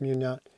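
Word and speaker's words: Meugniot: Will Munyot, I think it's Munyot, pronounced Munyot, was the artist on the first volume.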